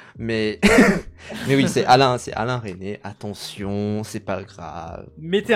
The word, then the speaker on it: Resnais: Et du coup, C'est Alain René. La culture, c'est une performance absolue. Il faut bien prononcer les prénoms, sinon tu arrêtes ta vidéo.